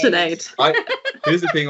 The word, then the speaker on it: Sinead: Yeah, Maybe starting with you, Sinead. Sinead, sorry. Lemonade, Sinead, Sinead. like lemonade. Sinead.